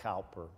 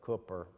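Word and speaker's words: Cowper: heard of William Cooper looks like calper but Cooper probably or however you pronounce it as a hymn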